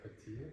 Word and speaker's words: Pattaya: Is that how you pronounce Pattaya? Oh, Pattaya.